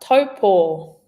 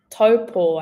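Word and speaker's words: Taupō: I quite often hear this getting mispronounced. And I actually saw a really funny picture online, and it was a picture of someone's toe and then a picture of a cat paw. So if you needed a visual cue to help you with the pronunciation of taupo, give that one a go.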